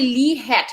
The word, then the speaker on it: Hecht: line of breathing anyway how do you pronounce that the sec the first aids in lee h e c h t why do you pronounce it it's actually lee hat you pronounce it correctly yeah so that's where